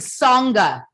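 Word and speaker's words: Tsonga: australian open he beat joe wilfred sanga t-s-o-n-g-a in the final song right so it sounds like tonga and he's the right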